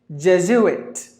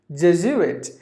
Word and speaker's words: Jesuit: j zu it sorry there are 3 syllables in this word death zu it Jesuit Jesuit a member of the Roman Golic church just do it so you can find the Jesuit free a priest in